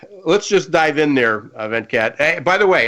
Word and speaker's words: Venkat: my pleasure so let's just dive in there event cat hey by the way how close did I get to pronouncing your name correctly you got that right